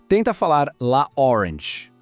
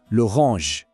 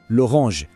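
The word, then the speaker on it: l'orange: Essayez de dire « la orange », ça sonne un peu cassé, n'est-ce pas ? Maintenant, écoutez et répétez. « Loronge », ça sonne magnifiquement. « Loronge ».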